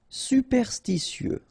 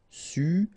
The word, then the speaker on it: superstitieux: Superstitieux, okay, so final X not pronounced. Superstitieux, okay, remember when we get this T after E and then E here, S. Superstitieux, superstitieux. En mitoyenneté, okay, so mitoyenneté, en mitoyenneté.